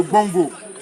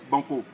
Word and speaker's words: Bongo: Le véritable nom de cette rivière-là, c'est le Bongo. Le Bongo qui signifie source d'eau rafraîchissante en langue hébrienne. Et le colon n'a pas pu prononcer le Bongo, a dit Banco.